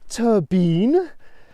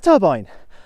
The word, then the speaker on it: turbine: I mean, a big one would be turbine. We don't say turbine. It's a turbine, and that's a relatively recent import.